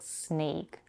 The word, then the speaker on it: snake: In small, we have a vowel A as in father. In plastic, as in cat, and in snake, the diphthong A.